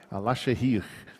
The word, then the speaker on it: Alaşehir: Alaşehir, mais ou menos assim a pronúncia.